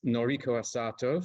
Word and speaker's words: Noriko Asato: Okay, so without further ado, we will move to our first speaker, who is Noriko Asato from the University of Hawaii at Manoa, if I have pronounced that correctly, Noriko.